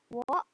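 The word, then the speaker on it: を: Benda, wo. Ini O ini dibacanya wo ya, pakai W. Wo. Tulisannya memang O, tapi dibacanya wo.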